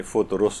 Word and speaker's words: فطرس: فے کے اوپر بھی پیش ہے اور رے کے اوپر بھی پیش ہے، یعنی فطرس اس کو صحیح طور پر پڑھا جائے.